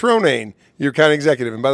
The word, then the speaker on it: Ronayne: kog County Executive Chris Renee you got it nobody ever pronounces my name right but you did Lily it is Chris Ronan your county executive and